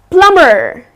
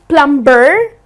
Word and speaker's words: plumber: the trades person well plumber it's not lumber but it's plumber so here the B is silent it's plumber so the person who